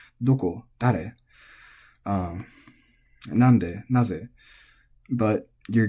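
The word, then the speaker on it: どこ: But for whatever reason, and this goes for all question words, generally all question words in Japanese are technically pronounced atamadaka, or head high, doko, dare, nande, naze.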